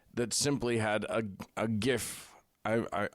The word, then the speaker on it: GIF: simply had a a gif I I I use the hard G I know I'm supposed to use this soft J whatever nobody cares sound